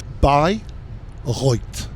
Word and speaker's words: Bayreuth: Well, you you've said it wrong lots of times, but we are reliably told that the name of the city to which we are currently headed is by Roy.